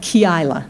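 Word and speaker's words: Keilah: then he hears that the Philistines are at key isla that's how you pronounce it I didn't know till I looked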